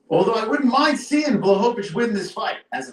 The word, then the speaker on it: Blachowicz: 42 is the age for Jan Blachowicz. Some people can't say his name. It's Blachowicz.